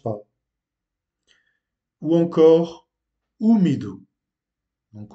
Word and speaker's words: úmido: Ou encore úmido. Donc on accentue là où est l'accent sur le U qui se lit OU.